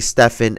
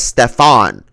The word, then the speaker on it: Stephen: with one Nike official accidentally addressing Stephen as Stefan, the moniker, of course, of Steve Urkel's alter ego in the TV show Family Matters. I heard some people pronounce his name wrong before, says Del Curry.